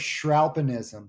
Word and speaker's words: Shralpanism: The Art of Shralpanism. So it's shredding meets alpinism.